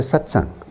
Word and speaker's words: satsang: it's chanted before the satsang so what is a satsang a satsang this is a satsang satang is divided into two syllables sat and S now sat means the